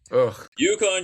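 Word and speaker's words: UConn: You want to start with what happened yesterday with Yukon? Yukon.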